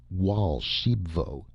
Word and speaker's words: Raoul Archambaud: And Raul Archembbod, pronounced Walsh Sheepvo, interrupted excitedly.